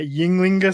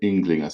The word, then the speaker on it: Ynglinga: prominently pronounced yeah yeah it's um it's in sort of like an i sound in in in icelandic uh the other scandinavians would say english saga so yeah as